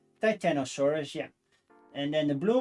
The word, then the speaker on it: Titanosaurus: Titanosaurus, yeah.